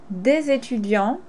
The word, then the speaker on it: des étudiants: Des étudiants has a special way of being pronounced because des ends with an S. Étudiant starts with the vowel. So des étudiants, you make the liaison. You link the S and the E.